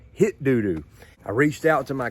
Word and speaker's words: Hitdudu: come to find out i was pronouncing it right but the brand name is straight up hit doo doo i reached out to